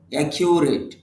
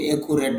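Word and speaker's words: accurate: করা অথবা বর্ণনা করা একিউরেট নির্ভুল সঠিক একিউরেট নির্ভুল সঠিক অনেকে একুরেট বলেন তবে এখানে একিউ ইউ সাউন্ড আছে তার মানে উচ্চারণটা হবে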